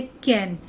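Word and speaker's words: can: तो देखिए, ये वर्ड है कैन, जबकि ये वर्ड बनेगा केन।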